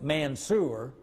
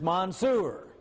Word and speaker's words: Mansour: It's named, well, it's pronounced in Oklahoma, of course, at Mansur, but it's Mansour, which is an Arabic name.